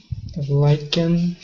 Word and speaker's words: lichen: Kitchen, lichen. The CH are different. In what The way? letter I is different. Kitten. The T is not pronounced. Kitchen. Lichen. CH pronounced like K. Lichen.